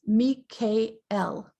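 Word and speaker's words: מיכאל: you know this but the original pronunciation of his name is meek k-l originally but now we call him michael and he's good he's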